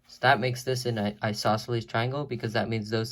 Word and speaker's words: isosceles: length that makes this an equilateral triangle and isosceles triangle that's how you pronounce this word it's a little bit complicated